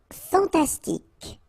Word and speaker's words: fantastique: Fantastique, okay, Q-U-E at the end, K, okay, tic.